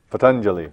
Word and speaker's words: Patanjali: Let's talk about, so I can do this name, Patanjali. Patanjali.